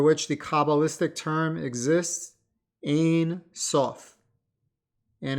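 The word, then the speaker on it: Ein Sof: the cabalistic term exists a sof and if you're trying to understand that phonetically in English that's a i n second word s o f so until next time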